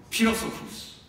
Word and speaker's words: Philosophus: Dunque va bene fare anche così secondo me, ma non pronunciare come una F perché non aveva questo valore fino ai tempi bizantini.